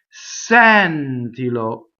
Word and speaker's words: sentilo: Next, Sentilo. Okay, so the infinitive is closed, the E. Sentire, but now the accent is on the like senti, senta, sento. All of those, when you conjugate it, it becomes open.